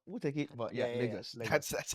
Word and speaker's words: Lagos: But yeah, Lagos. That's that's how you pronounce it.